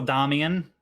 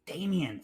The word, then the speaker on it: Damien: You're very special, Damian. And like the Greta, the female, it's Damien. Say it right.